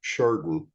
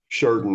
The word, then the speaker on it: Sheridan: My parents are actually from, and I'm going to pronounce this correctly, Sheridan. That's the correct way to pronounce it. I don't know if you know that, but Sheridan, Arkansas.